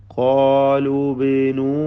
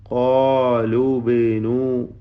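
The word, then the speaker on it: قالوا ابنوا: രണ്ട് സുക്കൂനുകൾ അടുത്ത് വന്നപ്പോൾ ആദ്യത്തെ സുക്കൂൻ നൽകപ്പെട്ടതായ വാവ് ഹർഫുൽ മദ് അതിനെ ഉച്ചാരണത്തിൽ നിന്നും ഒഴിവാക്കി ഖാലൂ ബിനൂ എന്ന് ചേർത്ത് വായിക്കുകയാണ്, ഹദ്ഫ് ചെയ്തുകൊണ്ട്.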